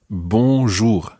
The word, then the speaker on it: bonjour: it absolutely 100% correctly that word is bour okay now there are two different sounds in there and remember remember last week when we were listening to our nasal sounds the first syllable